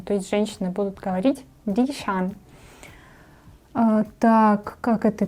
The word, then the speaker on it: ดิฉัน: То есть женщины будут говорить дишан. Так, как это пишется? Тоже вроде ничего сложного. Ди, уже краткое и. Краткое и, поэтому у нас низкий тон. Низкий же. Да. Ди. Шан. Шан. Здесь восходящий.